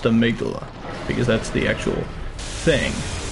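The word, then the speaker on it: Amygdala: now I'm aala here and I know it's pronounced the migula because that's the actual thing he's an interesting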